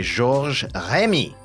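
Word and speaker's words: Georges Remi: Created in 1929 by Gor Remy, which is how it's pronounced properly, better known as Tintin or Tan became a worldwide star.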